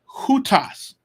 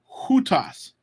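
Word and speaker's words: οὗτος: ultimately is Christ so hutas there's a rough breathing so it's a ha sound like in soup hutas hutas ain't in RK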